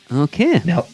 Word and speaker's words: Nilghe: Uh, my last name is pronounced Nel.